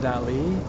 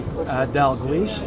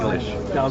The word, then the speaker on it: Dalglish: In Scotland, it's pronounced Dali, Dali? but I pronounce it phonetically Dalglish because it has two L's. Dalglish.